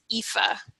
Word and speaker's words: Aoife: This one is pronounced Aoife.